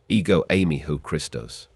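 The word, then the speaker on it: ἐγώ εἰμι ὁ Χριστός: The key phrase here, I am the Christ, is pronounced, ego eimi ho Christos.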